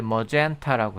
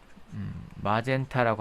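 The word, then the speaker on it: magenta: 그래서 이 자홍색은 이제 머젠타라고 해요. 마젠타라고 하는데 영어식 발음은 머젠타.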